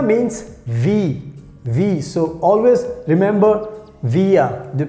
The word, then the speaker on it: wir: So wir, W-I-R. So wir means we. So always remember wir, the pronunciation, wir.